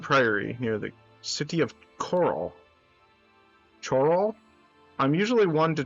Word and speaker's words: Coral: And when I was growing up, this specific chain, Coral, it's pronounced Coral, okay. Alright. Cool. What are we doing? We're just following the road, I guess. Where's the path we were on? It's pronounced like coral.